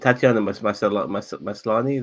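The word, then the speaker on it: Tatiana Maslany: And Tatiana Maslani, that how you say her name?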